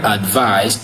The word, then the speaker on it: advise: Advice is stressed in the first syllable, advice, while advice is stressed in the second syllable, which is advice.